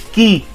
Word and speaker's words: quay: It's not quay or quay, it's key.